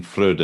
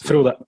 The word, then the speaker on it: Frode: Should have mentioned your full name, Jan Frode Nilsen. Is that how you pronounce it? Yes, Frode.